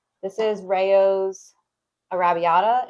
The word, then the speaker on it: Arrabbiata: This is Rayo's Arrabbiata. It's their like spicy marinara. It's really good. It's fantastic pronunciation, love.